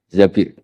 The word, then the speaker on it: Zabir: Di hadis ini bukan bacanya bukan Zubair, tapi Zabir.